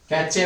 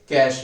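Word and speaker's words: cache: कैचे memory भी बोलते हैं बच्चे जो गलत प्रोनाउंस करते हैं। तो बच्चे क्या बोलेंगे, कैश मेमोरी।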